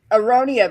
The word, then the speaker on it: aronia: I can't pronounce what you said a while ago, but Aronia berries.